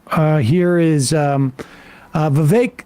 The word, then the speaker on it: Vivek: here is um uh Vivek still rhymes with cake making his uh claim